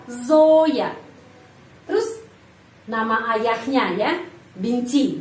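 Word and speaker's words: Зоя: Dan huruf yo dibaca O tetap. Kenapa? Karena dapat penekanan. Zoya.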